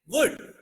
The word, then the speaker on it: would: Wood.